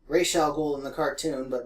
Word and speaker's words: Ra's al Ghul: Ra's al Ghul. Ra's al Ghul in the cartoon, but Ra's al Ghul, I think it's actually pronounced, means head of the demon, or the demon's head.